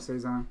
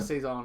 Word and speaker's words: saison: It has to have a saison.